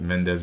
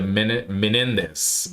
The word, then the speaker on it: Menendez: Yeah, because you have the case that Mendes brothers as well. Yeah, the Menendez brothers.